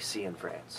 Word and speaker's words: Cianfrance: good okay uh Derek I've been told your last name is uh Sean France but I don't I don't trust myself so why don't you go ahead and pronounce it officially so we get it right yes Derek Cen France perfect okay have so